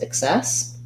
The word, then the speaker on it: excess: ack cess and then in excess we have second syllable stress so um we have the unstressed if sound it ex excess so in excess um